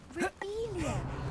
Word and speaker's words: Revelio: You're saying it wrong. Ugh, Revelia. Much better.